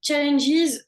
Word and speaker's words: challenges: Oui, challenges, prononce bien le S, is. Enfin, d'accord. essaie de marquer le S en disant challenges.